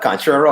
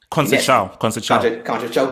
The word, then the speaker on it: Conceição: What Conchero or his pronounce his name? Conceição, the next great Portuguese coach.